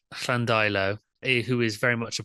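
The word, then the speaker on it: Llandeilo: Jones from Llandello in Diffid. Am I pronouncing that right? I think it's Flandilo, I think. Llandilo, who is very much a person after my own heart here.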